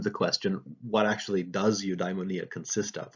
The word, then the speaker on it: eudaimonia: If you transliterate that into the Roman alphabet, it's pronounced eudaimonia, right?